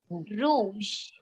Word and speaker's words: rouge: color which is red red is pronounced as Rouge okay rou yeah r j sound should come at the end again here it's ending